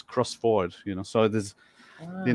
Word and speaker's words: Crossford: used to think that crossford was would be pronounced crossford you know because it sounds Scottish I live